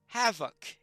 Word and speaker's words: Hafoc: That, of course, between two vowels, an F is pronounced as a V in Old English. So therefore, Hafoc.